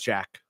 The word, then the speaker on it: Jacques: that is the first name Jacques? How do you say it? It's Jack. Jack. Just Jack.